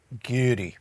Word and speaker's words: Gyori: Gyori.